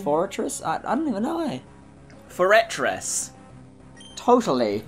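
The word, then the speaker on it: Forretress: Foretress. Totally. I think that's how we used to call it, Foretress, when we were younger. Because that's how it's spelled, honestly.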